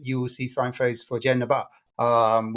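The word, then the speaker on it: Genova: Uh that's the English pronunciation of Genaba. Uh which if you're in Italy and you see inside and you're in the uh Luria region, you will see signos for Genaba. um which is the Italian pronunciation but Genoa the football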